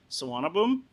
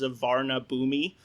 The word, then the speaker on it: Suvarnabhumi: One is Suvarnabhumi, which is if you read it in English, it will look like it's Savarna Bhumi, but it is not pronounced that way.